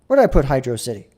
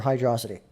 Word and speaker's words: Hydrocity: So where did I put Hydro City or Hydrocity, however you want to pronounce it? I might piss some people off, but I always say Hydrocity.